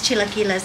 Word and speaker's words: chilaquiles: And it just makes chilaquiles, and they're so good.